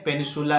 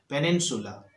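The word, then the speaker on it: peninsula: है आर ऑन ए पेनिसुला, ये पेनिसुला के ऊपर है। पेनिसुला क्या होता है? चारों तरफ से समुद्र और बीच में निकले हुए भाग को बोलते हैं पेनिसुला। पेनिनसुला सही उच्चारण है, पेनिनसुला।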